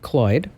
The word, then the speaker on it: CLOiD: LG bought CLOid, pronounced like Floyd, CLOid.